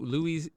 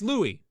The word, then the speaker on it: Louis: David you're up blue Louise is it Louis it's Louie it's really wrote it